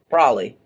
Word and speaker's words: probably: Probably. What? Probably gonna happen. Probably? Why do you pronounce all the B's?